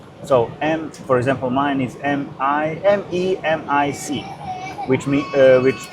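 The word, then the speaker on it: Memić: So for example, mine is M-E-M-I-C, which pronounce Memic.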